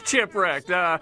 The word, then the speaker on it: Chipwrecked: Yeah, it is Chipwrecked.